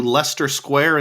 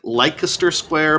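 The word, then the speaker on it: Leicester Square: energy department or something next we went to Lester Square in downtown London it looks like lter square but someone on the bus told me it's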